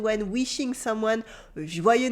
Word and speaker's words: joyeux: So repeat after me, Joyeux Noël, Joyeux Noël, Joyeux Noël. Good. Joyeux Noël, Joyeux Noël. As you can hear, the X at the end of joyeux is silent, and this weird letter